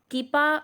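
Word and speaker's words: κ: और इसको हम के से रिप्रेजेंट करते हैं, और इसको बेसिकली के नहीं पढ़ते, कीपा होता है ये, और कीपा से इसको प्रोनाउंस करेंगे हम, कीपा इसको पढ़ेंगे।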